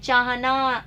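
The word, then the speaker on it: चिह्न: हित धन एशी, एशी का अर्थ होता है चाहना, इच्छा करना। जो हित चाहता है वो है हितैषी। चिन्ह अशुद्ध है, शुद्ध रूप इसका ये होगा, हम उच्चारण इसका गलत करते हैं, चिहन ये आएगा।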